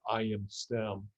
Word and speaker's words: ImStem: stem cell is called ImStem. So the letter I, the letter M, and then STEM, STEM. It's actually all one word, but they pronounce it ImStem.